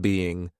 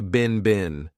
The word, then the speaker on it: been: Now notice I said been a very unstressed been. This is how we pronounce the past participle of the verb bein in American English. I don't speak British English, but I believe in British English they pronounce it more stressed being. But in American English, we don't do that. We just say been bin.